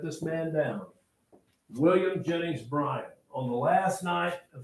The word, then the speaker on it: Bryan: Students, for some reason, they hear me saying, I'm not saying Bryant. It's Bryan.